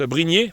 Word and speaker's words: Brynje: Donc il y a Brigné, ça se prononce Brigné, mais c'est Brigny en français. Je pense que vous le prononcez Brigny, Brigné ou un truc comme ça en norvégien ou suédois.